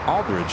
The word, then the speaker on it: Aldridge: And she had the same last name, and that's how I knew how to pronounce Aldridge correctly.